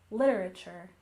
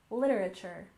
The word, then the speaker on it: literature: finally we have literature with stress on the first syllable literature literature we tend to really say this word quickly I'll slow it down a bit literature one more time with